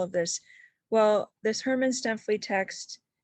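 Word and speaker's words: Stuempfle: Herman Strumpfel is how. Yeah, it's Stempfli. Stempfli. Okay, Stempfli. sorry.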